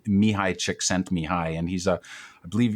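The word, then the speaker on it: Mihaly Csikszentmihalyi: is impossible to spell it's even harder to pronounce but it's mihai chick sent me high and he's a i believe he's a hungarian-american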